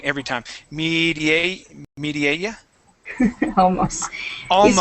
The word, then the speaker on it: Mireia: And I pronounce your name wrong every time. Mireia. Almost. Almost. It's Mireia.